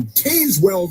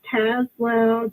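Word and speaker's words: Tazewell: Pamela calling from Tazwell, Virginia. Pamela, you're on the Chris Plant Show. Yes. Chris, thank you. And it's pronounced Tazwell just like J the word Jazz.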